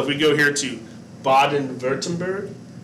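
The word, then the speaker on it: Baden-Württemberg: we go here to baden-wurttemberg the w is pronounced like a v so if you ever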